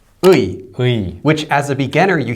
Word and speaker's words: 의: a lot of cases, it's actually not pronounced that way. It'll be said kind of like 이. And sometimes 에. Yeah, sometimes 에, that's true when it's used as the possessive marker.